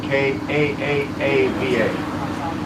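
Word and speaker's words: Kaʻaʻawa: It's spelled K-A-A-A-V-A. And it's pronounced Ka'a'ava. Pronounce all 3 A's.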